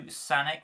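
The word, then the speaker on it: Sanek: Moving on to Sanic, which is spelled S-A-N-E-K, also known as Kensa, obviously.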